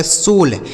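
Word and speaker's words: soul: इस ओ और यू का उच्चारण ओ की मात्रा एल से ल। ये लिखा गया आपका सोल एस ओ यू एल इसे पढ़ा जाएगा सोल। ठीक है? इसे साउल नहीं पढ़ा जाएगा।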